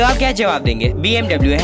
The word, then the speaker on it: BMW: आप जानते हैं कि इसकी जो रियल प्रोनाउंसिएशन है वो BMW नहीं बल्कि BMW है। और ऐसा इसलिए क्योंकि ये जो कंपनी है वो एक जर्मनी की कंपनी है जहाँ पे इसका प्रोनाउंसिएशन BMW नहीं बल्कि BMW होता है।